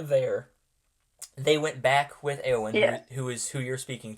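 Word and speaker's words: Éowyn: Eowyn. Eowyn.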